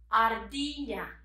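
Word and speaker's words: ardilla: squeak squirrel squeak squeak squirrel in spanish is ardina ardia can you say with me can you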